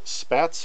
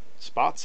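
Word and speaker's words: Spaatz: We have Air Chief Marshal Charles Portal in charge of the RAF, and Carl Spatz or Spots. Spots? I think it's pronounced Spots. I might be wrong about that.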